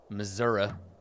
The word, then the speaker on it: Missouri: I get a new version as we leave Missouri Missouri sorry I gotta pronounce it correctly uh-huh we have been in